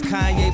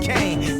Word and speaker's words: Kanye: Now all I need is y'all to pronounce my name is Kanye. But some of my plastic still say Kane.